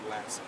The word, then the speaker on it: Latson: you pronounce her first animal first name is j lee and her last name is lassen so again our imp east district officers are